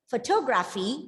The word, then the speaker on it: photography: first syllable is stressed when it becomes photography the second syllable is stressed and then it becomes